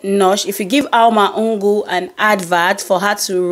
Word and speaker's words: Ngur: Yes, that is the right pronunciation of the surname Ngur.